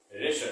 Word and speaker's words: WRESTLE: रेशल। क्या पढ़ेंगे? रेशल। रेशल शब्द का मतलब होता है हिंदी में कुश्ती। क्या होता है? कुश्ती। तो आपने देखा रेशल में भी W साइलेंट है।